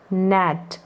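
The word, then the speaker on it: gnat: अब यहाँ पर जी एन जो है, ऐसे जी एन साथ में आएगा, तो यहाँ पर लगभग आपको ये जो जी है ये इसका उच्चारण नहीं करेंगे, क्योंकि ये जी साइलेंट रहेगा। तो इसको पढ़ेंगे न एट नैट, यानी एन का जो है उच्चारण हो रहा है, जी साइलेंट है।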